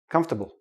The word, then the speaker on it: comfortable: little I in their comfortable come stop bull comfortable okay we don't pronounce the or comfortable nope don't do that